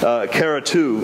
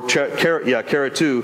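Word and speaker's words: χαριτόω: now but this this the pertinent the correct pronunciation is Cara to or cara cara to and what it means is chased with grace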